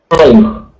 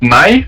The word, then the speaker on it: nice: Right, so it's not nai, but nice. With the s sound at the end of the word.